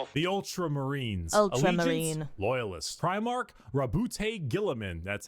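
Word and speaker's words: Roboute Guilliman: Primark Rabute Gillaman.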